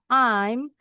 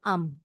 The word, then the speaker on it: I'm: Nah, disingkat jadi I'm tapi bacanya enggak I'm bacanya am.